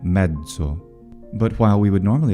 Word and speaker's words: mezzo: The letter Z, though, can have another pronunciation, which is voiced, a voiced affricate. So, from Latin medium, we get mezzo.